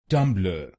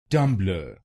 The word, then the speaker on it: Tumblr: Its correct pronunciation is tum blur. tum blur this word has two syllables. tum blur tum blur will become tum blur tummer. And in this you have to stress on the first syllable tumblr.